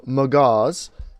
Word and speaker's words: Magaz: Also, Magaz, he wrote in, and apparently he's British, and that's how you pronounce his name.